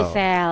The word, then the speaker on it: GEESEL: Bisa, dibuka aja di website kami atau mungkin di marketplace ada Gisel official dengan tulisan GEESEL. GEESEL ya. Dibacanya Gisel. Gisel, baik.